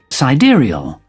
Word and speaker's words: sidereal: Sidereal. By the way, the actual pronunciation Sidereal.